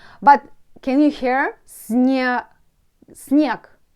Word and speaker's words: снег: Snow for me, снег. But can you hear? Снег. Снег. I can pronounce it like k at the end, but you write it like g.